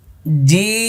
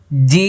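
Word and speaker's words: جيم: জিম, শেষে দেখেন ঠোঁট বন্ধ হবে, কারণ এটা শেষে মিম আছে। জি, এই যে দাঁত লাগবে না, জি লক্ষ্য করুন, জিম।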